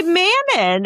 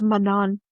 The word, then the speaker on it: Manon: No man because cuz a lot of people say manon, you know, and they don't say and it's manan.